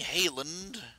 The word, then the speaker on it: Hayland: Hayland. It's pronounced hay, not high.